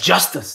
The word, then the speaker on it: Justus: want to ask you about your name yes Justice that means PR yes did I pronounce it good justice justice yes that's right